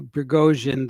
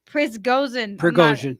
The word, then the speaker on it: Prigozhin: Yevgeny Prigozhin, the leader of the Wagner Group, is alive on an island in Venezuela, according to the Daily Mail.